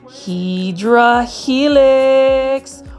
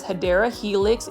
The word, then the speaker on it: Hedera helix: As you can see here, this is our favorite Hydra Helix. Or the correct way to say it is Hedera Helix, English ivy.